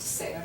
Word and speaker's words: ser: The infinitive, pronounced ser, we do pronounce the R at the end.